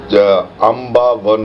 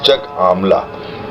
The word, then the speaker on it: Chak Amla: See, That is the her, what do you call it, which in Buddhist texts they have mispronounced it as Ambavan or something like that. It is Chak Amla.